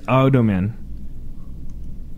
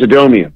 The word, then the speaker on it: Adomian: do you think of James Adam in James Adomian yeah I said his name wrong what that's okay um